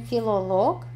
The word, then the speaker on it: филолог: А сын филолог и филоложка. То есть я филолог. Да, смотрите на ударение. В болгарском языке всегда ударение падает на конец при профессиях, когда есть лог в конце.